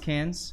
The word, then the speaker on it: Cairns: It's pronounced Cans?